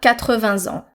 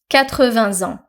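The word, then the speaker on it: quatre-vingts ans: For example, il a 80 ans. So we're pronouncing the S from 20 as a liaison. 80 ans.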